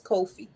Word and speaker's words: Kofi: People call it Coffee. coffee. Coffee. Coffee. Because they always say you buy me a cup of coffee. And you know, it's funny. My cousin name is spelled like that, but his name is Kofi.